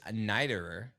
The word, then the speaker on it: Neiderer: right oh today we're hanging out with Lucas nighterer I'm like 98.9 positive that I said that